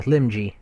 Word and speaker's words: Limji: Yeah, Limji.